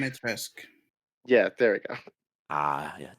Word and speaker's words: Dimitrescu: Why do I keep forgetting how to pronounce that damn name? Dimitrescu. Yeah, there we go. Yeah, Demetesque.